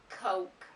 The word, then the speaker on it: Coke: So the correct pronunciation of this word is Coke. So number 1 is pronounced cook, cook, cook.